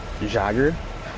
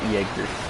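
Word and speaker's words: Jäger: a long time but the German word Jager and don't it may look like it says jogger or Jaykar music dagger it is pronounced Jaeger what Jaeger means is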